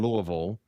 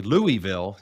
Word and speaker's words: Louisville: But for people that that live there if you hear somebody say Louisville you ain't from around here. It's all one syllable to us. Anyway, we we lived in Louisville for a few years um before moving to Cincinnati.